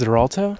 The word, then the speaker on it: Xarelto: hi my name is Xarelto yeah you can call me for short it's X it's spelled like x-a-r but it sounds like a z yeah it sounds like a zed sounds like a zed